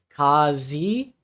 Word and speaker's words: Kazi: It's Kazi. Kazi? Oh, like an soft, like an upside down. Oh, Kazi. Kazi. The A is a soft A, like an upside down E.